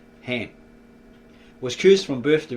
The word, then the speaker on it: Ham: Well, it's actually in the original ancient Tav Estra, Brita Cam, it's got Kham, but it's actually pronounced Ham.